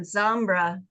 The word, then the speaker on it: Zambra: in a search so and zambra is spelled just like it sounds yeah z m b